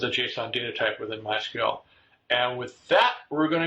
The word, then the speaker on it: MySQL: couple of different ways is it my sequel or is it mysql well the the old-timers prefer mysql but it really doesn't matter our former ceo martin